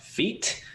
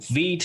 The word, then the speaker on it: Vite: some people are like, if Vite is pronounced in the French way, then why isn't Vue pronounced in the French way?